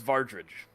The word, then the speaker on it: Vardridge: Like garbage? Vargridge? Yeah, it sounds about I right. have it spelled with a like good 3 mnemonic. Varge. Okay, no, I actually did spell it right. Vardridge, the garbage? Correct.